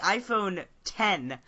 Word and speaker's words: iPhone X: And excuse me, it's the iPhone 10. Pronounce it correctly. I refuse to say iPhone 10, because there's no iPhone 9. So it's the iPhone X. iPhone X edition. Yeah, because it's X for 10 years, not for iPhone 10.